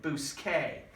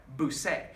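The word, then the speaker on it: busque: you got a problem if you spell it bu as that doesn't say Bousquet what does that say well that's right boo say so how do we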